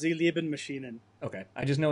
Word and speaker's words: Sie Lieben Maschinen: __ ] that is it's German okay it's pronounced Elia bin machine and okay I just